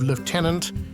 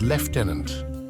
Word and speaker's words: lieutenant: that has puzzled many The Curious Case of Lieutenant versus leftenant this isn't just about a word it's a